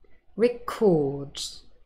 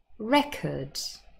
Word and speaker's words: record: So we have verbs, those are stressed on the second syllable, and then nouns, and they are stressed on the first syllable.